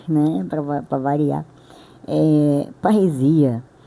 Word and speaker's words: parresia: Eh, paresia é é uma pronúncia grega, né?